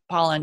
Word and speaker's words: Pollan: like that Michael Pollan it's a pollen or pole and I was gonna say his name wrong but pollen yeah from the food food